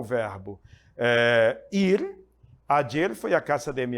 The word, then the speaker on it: ayer: Ayer, pode-se ler também ayer, ou como os leem os argentinos, ayer, que significa em português ontem.